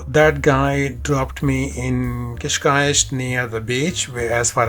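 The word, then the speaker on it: Cascais: all of that uh kishk was much cooler by the way I'm saying kishk because that is the correct pronunciation how locals say it I remember asking so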